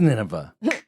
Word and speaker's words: Nineveh: I'll spell it. Arrapha. Arafa. I'm going Nineveh. He's going Nineveh. I'm going nowhere. It is Nineveh.